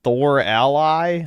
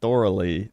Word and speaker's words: thoroughly: You guys aren't even writing the pronunciation right. Thor Ally. I'm saying Thorally, not Thor Ally.